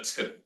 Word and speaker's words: tittle: However, from a typographic point of view, you can call anything like this a tittle.